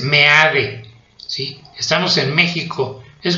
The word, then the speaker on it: Meade: No se pronuncia MIF, es Meade.